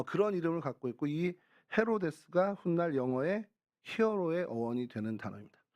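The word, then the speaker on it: Ἡρῴδης: 수 없이 하게 됐습니다음 여러분 해롯 그러면 이게 영어 발음은 아니잖아요 이제 그 헬라어 또 히브리어 아라모 런 이제 중동의 이야기 그 이런데 헬라어로는 헤로데스 헤로데스 헤로데스 어이 헤로데스 또영 헤로디아 뭐 이렇게 되는데요 헤로데스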